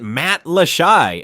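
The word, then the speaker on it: Matlacha: Pronounce it Matt Lashai, unless you want locals to know you just arrived yesterday.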